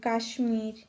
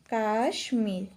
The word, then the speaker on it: কাশ্মীর: সুস্মিতা তারপর হতে পারে কাশ্মীর কাশ্মীর যার মধ্যে ম এর উচ্চারণটা বহাল থাকবে কাশ্মীর আজকে আমরা যে